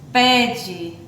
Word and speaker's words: pede: Pede, ó, como é que se escreve a palavra pede? Com E. Mas a gente pronuncia, né, o E com o som de I.